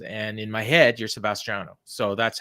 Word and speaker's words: Sebastiano: your name is spelled Sebastiano, so I don't know which it is, or is both okay? So both are fine. The Sebastiano is the Italian, but most people call me Sebastian.